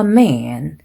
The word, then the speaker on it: man: 1명일 때는 좀 찢어지는 발음 a man 이렇게 해주시고 2명 이상일 때는 man, two men, three men 이렇게 좀 더 짧게 발음을 해주시면 되겠고요.